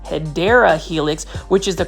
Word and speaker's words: Hedera helix: that are new to the channel I actually mispronounced hedera Helix which is the correct way to say um